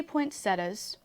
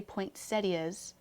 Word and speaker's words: poinsettias: like she has again I say poinsettias some people st. say poinsettias and they would be wrong no that's how it's